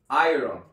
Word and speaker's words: Iron: Iron se pronuncia Iron Iron así como el famoso Iron Man de Marvel como lo han escuchado